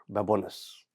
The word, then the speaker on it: Babones: Here in studio, I have got Salvatore Babones. Did I pronounce it right?